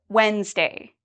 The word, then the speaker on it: Wednesday: correct what about Wednesday Wednesday am I pronouncing the D in this Wednesday no I do not pronounce the d okay and what about